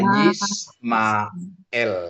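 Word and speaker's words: ישמעאל: Ini ada alif, ada ain. Ini silent gitu ya. Ini silent. Jadi bacanya satu gitu ya, Bapak, Ibu ya. Isma. Isma Ismail ya. Jadi bacanya Ismail gitu ya.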